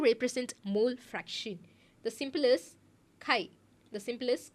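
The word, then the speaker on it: χ: extend X longitudinally sorry vertically uh you get Kai Kai Kai is a symbol Kai that's how we pronounce we pronounce that symol we call that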